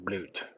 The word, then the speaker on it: Blut: It is pronounced bloaty. Bloat. Sounds like the German word for blood. Blut.